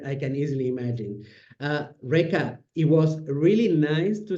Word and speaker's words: Reka: it's short but not easy so I can spell it R e k a Rea and my surname is D EA AK there